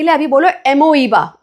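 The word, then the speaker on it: amoeba: नाम याद करने के लिए अभी बोलो एमोईबा. ओ भी है, बोलते वक्त ओ साइलेंट हो जाता है, सो एमीबा बोलते हैं.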